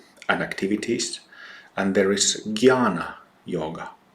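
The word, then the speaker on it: Jnana: activities and there is Gana yoga Gana is written J N A N A but it's pronounced Gana uh so yoga of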